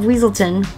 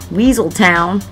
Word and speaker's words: Weaselton: From the nearby kingdom of Weaselton, not to be pronounced Weaseltown, the pompous and vain Duke thinks he can outdance, outcharm, and outwit anyone.